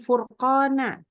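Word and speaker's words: فرقانا: Fur, fur, itu tebal kan. Furqana. Nah, hati-hati karena kita juga suka bacanya gini. Furqana, fur. Ini nggak naik ya pangkal lidah, jadi ingat. Harus dinaikkan. Jangan mentang-mentang, udah pasti dhammah, udah pasti tebal. Enggak. Pangkal lidah harus naik.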